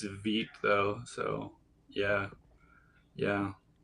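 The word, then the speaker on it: Vite: I think it's ve though, so yeah. Yeah, Vit rhymes with feet.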